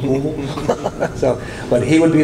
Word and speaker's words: Louisville: It's not Louisville, it's Louisville.